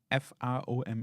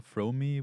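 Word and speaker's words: Frome: it up um pronounce f r o m e I would say from even though from or fromy would make more sense but it's probably like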